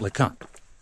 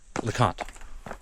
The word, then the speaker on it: Le Conte: So, it's Mount Lant. Lacant. Mount Lacant. Mount Lant. I asked somebody and they said they were local and that's what they call it.